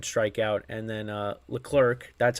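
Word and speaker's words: Leclerc: no hits one strike out and then uh L clerk that's how you pronounce his name pitched an inning the ninth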